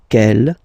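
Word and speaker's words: quel: good news is that you will pronounce them the same way all right so G Kell Kell and Kell okay remember that in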